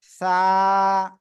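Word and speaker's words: ث: ওকে, আমরা কি বলতেছি দেখেন, জিহ্বার আগা সামনের উপরের 2 দাঁতের আগায় লাগাবো। সবাই লাগান, লাগে এখন উচ্চারণ করব। সা, সা। একটু বাতাস বের হবে, সবাই এরকম হাত দিয়ে দেখেন বাতাস বের হচ্ছে কিনা।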